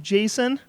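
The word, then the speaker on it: Jacen: pronounced Jason?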